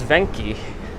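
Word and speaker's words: Venchi: my thirties parth here's venky v-e-n-c-h-i it's pronounced venky little chocolate place i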